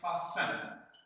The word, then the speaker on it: fasten: with, fasten क्या बांधना, उसका T साइलेंट करेगा, which fasten, FASTEN, fasten, T इसका साइलेंट हो गया, तो क्या पढ़ेंगे, fasten, T निकाल के fasten, means attach, tight, जोड़ा